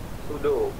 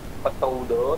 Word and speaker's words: pseudo: Pseudo. Langsung bukan pseudo tapi pseudo, S-U-D-O bacanya gitu.